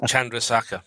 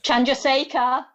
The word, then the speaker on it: Chandrasekhar: books by the indian physicist i can't even pronounce it tonight chandrasaka chandrasekhar chandrasekhar yes yes thank you i nearly got